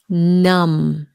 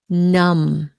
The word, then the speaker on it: numb: my back aches numb you don't pronounce the b numb sometimes when I sit